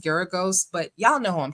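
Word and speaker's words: Geragos: Uh I keep saying Guragos, but someone said it's pronounced Geros, but y'all know who I'm talking about.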